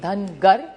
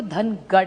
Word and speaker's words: धनगर: एक तो धनगर समाज की बड़ी मांग है कि उनको ट्राइब में धनगर, महाराष्ट्र मराठी में धनगर कहते हैं, नॉर्थ में उसी को धनगढ़ कहते हैं. सो इट is only a pronunciation thing.